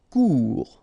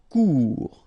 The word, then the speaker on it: court: Court, final T not pronounced, court. Remember, when you combine this O and U together, you get the sound OU, court.